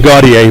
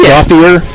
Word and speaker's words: Gauthier: I think you're saying Gaudier, but it's Gauthier. It's like an English-looking pronunciation of it.